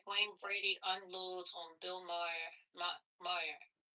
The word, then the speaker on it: Maher: Maher? Saying that he's a racist. Bill Maher.